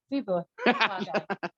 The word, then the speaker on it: Webauwaca: like Webauwaca. Chewbacca, It's like, okay, Chewbacca.